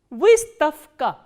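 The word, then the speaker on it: выставка: So, what happens when a voiced consonant comes before the voiceless consonant? The voiced consonant will be pronounced as its voiceless counterpart, which is f.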